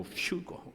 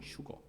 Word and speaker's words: 휴거: F 발음을 멋있게 내려고 휴거 그러는데 그렇게 발음하셔도 그건 영어가 아니고요. 우리말인데 한문이에요. 한문. 휴거.